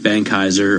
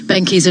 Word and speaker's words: Benckiser: If you want a clue as to Reckitt Benckiser and how to say it, it's like geezer.